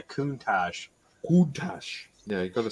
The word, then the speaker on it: Countach: manual box as well it's not a cuntash it's a countach yeah you've got to